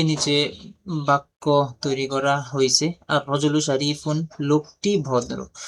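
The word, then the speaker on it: الرجل: তো র এটা এর শুরুতে যদি আলিফ লাম আসে এটা 13টি হরফের মধ্যে থেকে একটি, তো লামটা উচ্চারণ হবে না। তো রটা তাসদীদ যুক্ত রূপে উচ্চারিত হবে।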